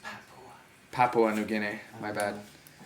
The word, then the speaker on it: Papua: It's pronounced Papua.